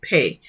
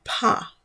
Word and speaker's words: pa: You may in some context see pe, but it's the pa, which we looked at earlier with pronunciation.